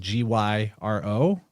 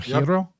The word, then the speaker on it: gyro: So it's like the word we see spelled Gyro, but it's actually pronounced gyro or hero.